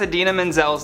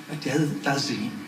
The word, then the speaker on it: Idina Menzel: Back in 2014, actor John Travolta famously mispronounced Idina Menzel's name while introducing her at the Oscars. Please welcome the wickedly talented one and only Adele Dazeem.